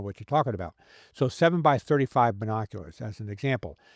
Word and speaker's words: 7x35: So, for instance, if you have a pair of 7 by 35 binoculars, I know it's written 7x35, but it's typically pronounced 7 by 35.